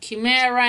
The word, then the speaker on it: chimera: softer you know that chimera in English is pronounced like character CH without a Chaka